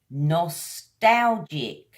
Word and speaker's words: nostalgic: That word is nostalgic. Nostalgic. 3 syllables, guys.